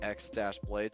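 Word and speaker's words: χ-blade: as the Keyblade, but spelled with an X instead of like spelled key, so it just says X-blade. So some of us call it I call it the X-blade, which just keeps kind of the confusion down.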